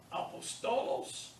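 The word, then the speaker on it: ἀπόστολος: Apostolos, notice how I pronounce that word. Why not apostolos? Why did I say apostolos? Look at the accent. Where is the accent mark? Over the first omicron, right? There's where your stress will be.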